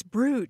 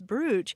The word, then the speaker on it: brooch: and then somebody said no no no it's bro it's bro and so you know